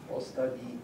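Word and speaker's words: остави: us after, you have ostavini, you get this kind of rhythm going. But it's not ostavini or ostavini, but ostavi with stress on that first syllable.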